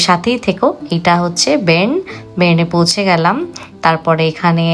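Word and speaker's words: Bern: আর আমার উচ্চারণ দেখেছো যে এটাকে বাসেল বলে আমি ব্যাসেল বলেছি আর বার্ন নয় শহরটার নাম হলো বেন।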